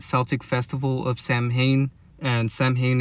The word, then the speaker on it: Samhain: festival of Samhain and Samhain is actually pronounced Samhain.